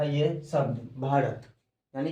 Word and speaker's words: भारत: story को समझते हैं सो भारता भारता ये इसको नहीं पढ़ेंगे इसको पढ़ेंगे भारत यानी कि यहां जो है य साइलेंट है तो यह भारत नाम